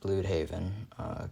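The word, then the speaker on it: Blüdhaven: I actually think it's pronounced Bloodhaven because of the double dots above the U.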